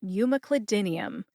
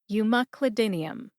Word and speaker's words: umeclidinium: Cli like clip, as in you clip or cut a recipe out of a magazine, Cli. Din like dinner. E like the letter in the alphabet, E. And like that filler word that many people say when they're trying to think of what to say next. Put that all together and you get Umeclidinium. Emphasize M and din. Din gets the most emphasis.